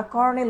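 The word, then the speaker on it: colonel: কলোনির সামরিক দায়িত্বে থাকতেন, তাদেরকে বলা হয়তো কলোনেল, যেটাকে তারপরে আমরা কর্নেল উচ্চারণ করে থাকি, কলোনেল। হ্যাঁ, এটা কিন্তু পরীক্ষাতে আসছে অনেকবার, কলোনেল। আমরা বলি কি? কর্নেল।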